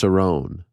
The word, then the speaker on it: Cerrone: his last five losses it's actually pronounced cerrone used to call him